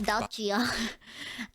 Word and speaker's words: Dacia: No, not the car company. It's Dacia.